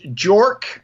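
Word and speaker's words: JORC: Australia or an Australian company you would use jork uh which is spelled j o r c those are their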